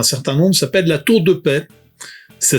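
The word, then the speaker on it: La Tour-de-Peilz: Il s'appelle la tour de paix. Ça s'écrit P L Z mais je vous pas je vous assure ça se prononce paix.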